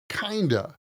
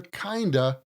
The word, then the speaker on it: kind of: We usually pronounce kind of as kinda.